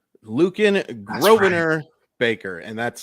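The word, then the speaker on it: Grosvenor: I don't recall it's grovener Lucan grobaner Baker and that's spelled g-r-o-s-v-e-n-o-r the S is silent uh there's some family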